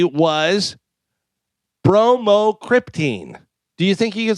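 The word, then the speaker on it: bromocriptine: It is really spelled like it sounds.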